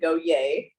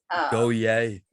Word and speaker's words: Gohier: you want to know how to pronounce the last name go yay is how it goes go yay yeah kind of like a cheerleader like yeah no one